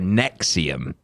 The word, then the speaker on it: NXIVM: going to start with one called uh nixium that sounds necks are a nexium but it's spelt nxivm nice yeah classic um